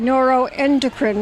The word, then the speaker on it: neuroendocrine: gala that's right and that's how you should pronounce it neuroendocrine right no and okay ring yes and I'm